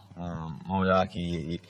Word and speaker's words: Moeaki: Moeaki, I was trying to figure out how to pronounce his name. And my quarterback coach, it's like teriyaki, but with a little mo in front of it.